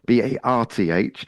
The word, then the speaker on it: Bath: I'll pronounce it correctly for you. Bath for you. Barth.